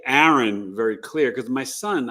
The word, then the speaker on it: Aaron: but but you know Aaron is pronounced Aaron not a Aon you might know Sports